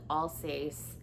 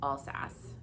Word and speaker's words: Alsace: learn on google and i believe it's pronounced all sas like all sassy still probably saying it